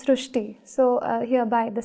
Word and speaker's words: Srishti: So in Marathi, the word Ri is pronounced as Ru. So that is why the pronunciation goes Srishti.